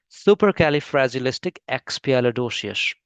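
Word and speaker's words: supercalifragilisticexpialidocious: Yes, super कैलिफ्रैजिलिस्टिक एक्सपियालिडोसिस।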